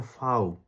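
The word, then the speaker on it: Vau: View কে ওরা বলে হচ্ছে ফাউ। ভিউ এর নাম কি? ভিউ এর নাম হচ্ছে ফাও। ফাউ এর উচ্চারণ হচ্ছে এফ এর মত।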